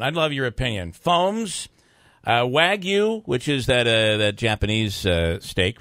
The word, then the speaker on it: Wagyu: And so, and the G is silent, right? Is that the case then? So it's Correct. Wagyu?